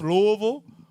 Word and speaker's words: Louisville: It's pronounced Louisville.